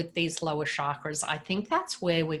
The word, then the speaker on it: chakra: I should tell you, I did get told the proper pronunciation, which is chakra. And I should actually pronounce it like that. It's not chakra, it's actually chakra.